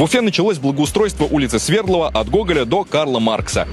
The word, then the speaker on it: Свердлова: в честь революционера Якова Свердлова Интересно что многие уфимцы ставят ударение в названии на первый слог вместо второго но при этом все